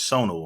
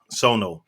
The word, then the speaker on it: Sonu: that i've seen was sonu right is that how you pronounce her name yes sono uh and i just